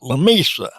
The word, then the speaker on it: La Mesa: So rather than La Mesa, they call it Lomita. And uh you know, you know if somebody's from there because then that they they don't say La Mesa, they say Lomita. But still spelled like La Mesa.